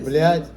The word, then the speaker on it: блядь: The right way, the Russian way, right? That's what I told you right now. Russian mafia. That's the way to say it. Okay, Блядь, whore.